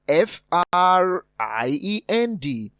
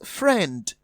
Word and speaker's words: friend: option option d is friend the i is silent so we have friend a sound matching the a in many therefore the answer to